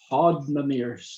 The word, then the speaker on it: Hoddmimirs: I'll let you have that one, but it's Hoddmimirs.